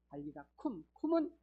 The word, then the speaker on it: 달리다굼: 굼은 쿰. 원래 발음은 쿰이거든. 달리다 쿰은 일어나라 이런 뜻이에요.